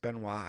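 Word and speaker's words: Benoit: My brother said Ble can have a match in hell with Chris Benois pronounced Benois. I don't know if it's a French thing.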